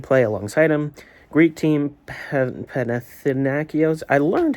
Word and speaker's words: Panathinaikos: Greek team Panathinaikos. I learned how to say it a couple days ago. Panathinaikos.